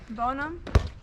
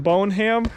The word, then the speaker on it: Bonham: lake here uh where are we in texas bonum in boneham no such northern earth bonum yes bottom why